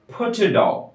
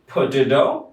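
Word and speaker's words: potato: পটেটো আলু, পটেটো আলু, শেষের টিটা ডি এর মতো উচ্চারণ হবে।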